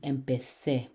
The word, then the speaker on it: empecé: If we were to spell with a Z, we would have to pronounce it with a vibrating Z, as in the English word zu, empecé. In Spanish, that does not sound correctly pronouncing it. The correct way to say it would be empecé.